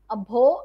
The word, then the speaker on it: abhor: You dislike someone, यू शडर eight, you spurn eight, मतलब किसी को बुरी तरह से बोलना भी अभो आता है. द आर इन इट is silent, do remember that.